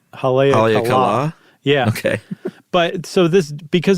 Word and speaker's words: Haleakala: I would say Haleakala. I think it is, but I think the accent's actually on the last syllable. Haleakala.